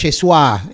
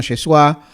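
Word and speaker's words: ישוע: que en realidad es Yeshua eh uno es, digamos, es como se pronunciaría hoy en hebreo moderno, Yesua, eh la palabra es más larga en realidad.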